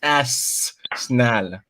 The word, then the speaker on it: Arsenal: You have to pronounce it right. It's Arsenal.